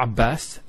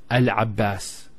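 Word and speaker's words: العباس: For example, we have the name Abbas, not Abbas, Al Abbas, which is a masculine name.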